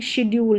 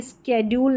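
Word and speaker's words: schedule: और यह वाली स्पेलिंग शेड्यूल है। इसको शेड्यूल पढ़ेंगे। स्ेड्यूल नहीं स्ेड्यूल नहीं शेड्यूल। शेड्यूल करके इसका उच्चारण हो रहा है। स्ेड्यूल नहीं।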